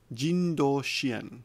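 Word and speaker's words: 人道支援: Jindo shien, humanitarian aid. So jin is person, sometimes pronounced hito, in this case jin.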